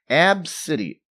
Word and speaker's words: Abcde: my phone man so how do you say her name AB City ABCDE and she's upset as